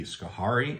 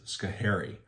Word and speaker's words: Schoharie: traveling across is schohari it looks almost like it could be skahari and I've heard it that way but officially it is scary and it's a mohawk